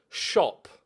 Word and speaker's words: Tschopp: It's spelt TSCHOPP. I'm going to go with Jan Shop.